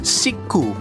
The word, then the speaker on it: Chic: Tulisannya itu CHIC, tapi kalau dalam pelafalan Jepangnya Shiku.